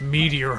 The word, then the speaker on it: Meteo: No, it's Meteo.